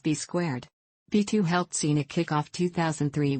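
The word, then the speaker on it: B²: Rec christened to B2 also written B and pronounced B squared B2 helped Cena kickoff 2003 with a win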